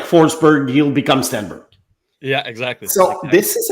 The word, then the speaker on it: Stenberg: I'm pronouncing it the American way or the English Canadian way because Stenberg is not the way to pronounce it in Sweden. If you listen to the commentators over there, I think it's something like Stenberg or whatever. Anyway, there's no G at the end.